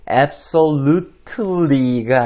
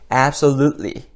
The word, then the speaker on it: absolutely: 마찬가지로 absolutely가 아니라 absolutely 이렇게 발음하시면 되겠습니다.